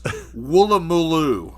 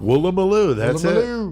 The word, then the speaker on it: Woolloomooloo: We're going to say this. Woolloomooloo. Woolloomooloo. That's it. And there are double O's at every time. Every one of those.